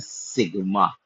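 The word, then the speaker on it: Psi: 23वें अक्षर को हम लोग कहते हैं सी, पी एस आई, जहां पर पी साइलेंट है। बहुत सारे लोग साई बोलेंगे, बट इसका एक्चुअल उच्चारण है सी।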